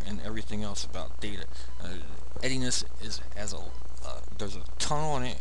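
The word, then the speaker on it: endianness: known as something called ediness. I didn't spell that right. It's pronounced ediness.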